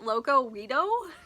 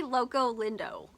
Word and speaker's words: Loco Lindo: totally butchered it so i kept calling it locowido it's actually loco lindo so this was a